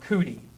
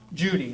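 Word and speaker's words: Cudi: Mount Judy is also called Mount Cootie because they cannot pronounce J's over there, right? They cannot pronounce P's. They have a very guttural language, so anything from the lips, it's very hard for them to pronounce. So peanut butter becomes peanut butter, all right? So they can't pronounce Judy, they pronounce it Cootie, Mount Cootie.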